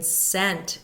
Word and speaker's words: scent: of sword silent c we do not hear the C in Scent as in to smell something or science giant silent